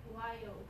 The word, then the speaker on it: wild: Wild. Good. Okay. And let's go to Lucy. Wild. Good. And Candy? Wild. Good. Noriko? Wild. Giovanna? Wild. Good job, everybody. Everybody did it with two syllables.